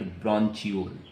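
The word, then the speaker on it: bronchi: Actually asthma is the inflammation of ब्रोंची एंड ब्रोंचियोल. ब्रोंची भी बोल सकते हैं, ब्रोंकाई भी बोल सकते हैं.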